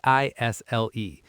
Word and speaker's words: aisle: It's spelled A I S L E. But the S is silent, so we say isle.